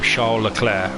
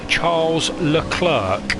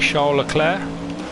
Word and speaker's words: Charles Leclerc: of French Italian one would say his name Shola Claire spelled Charles Leclerc however for the TV cameras because we are such simpletons he actually pronounces his name Charles Leclerc as well just because English people were incapable